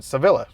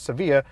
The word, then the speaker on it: Sevilla: Ça s'écrit SEVILLA et je suis assez stupide et je l'aurais prononcé Sevilla. Alors c'est bien que je l'ai googlé et j'ai appris que ça se prononce Séville et que c'est une ville d'Espagne.